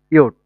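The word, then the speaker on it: Jot: তারপর হচ্ছে জে, জের প্রোনাউন্সিয়েশন হচ্ছে ইয়ট, ইয়টকে আমরা ইউলিয়া, ইউলিয়া, ইয়ট ফর ইউলিয়া, ইউলিয়া হচ্ছে একটা নাম।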